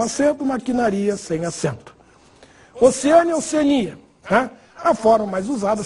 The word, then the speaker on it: Oceania: Oceânia, Oceania. Né? A forma mais usada, sem dúvida nenhuma, é Oceania para o continente. Portanto, sem acento. Embora alguns falem Oceânia. Deve ser por causa de oceano.